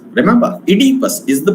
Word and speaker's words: Oedipus: King Oedipus, not Oedipus. Remember, Oedipus is the pronunciation of this word.